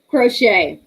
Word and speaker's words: crochet: pronounce it you know like um crochet okay you don't pronounce the the t like crochet you don't you crochet